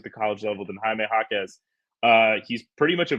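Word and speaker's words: Jaquez: for them uh it officially the pronunciation is Jaime Hawkins and officially we can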